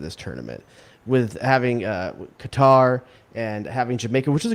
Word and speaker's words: Qatar: school of thought that cutter is a better pronunciation approximation for english speakers and i have been